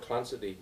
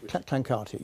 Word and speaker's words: Clancarty: Now, you mentioned Lord Clancy in your book, and information which... Clancarty, yeah. Oh, is that how it's pronounced?